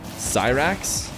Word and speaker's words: Cyrax: with both actually dog and some cats it's pronounced Cyrax oh was that right like he's a scientist